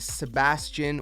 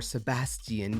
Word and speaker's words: Sebastian: to meet someone uh named Sebastian or Sebastian depending how you want to pronounce it but either way